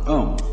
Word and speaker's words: Om: One of the basic mantras is, of course, the sound Om. That sound is used because if you spell it out, A-U-M, it runs from the back of your throat to your lips.